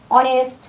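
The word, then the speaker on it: honest: হয় সেখানে এ না বসে এন বসবে যেমন অনেস্ট আওয়ার এয়ার খেয়াল কর এই দিয়ে এ দিয়ে এখানে আছে হাউস হাউস এখানে এ উচ্চারণ হই আস হাউস আর বাকি আওয়ার এখানে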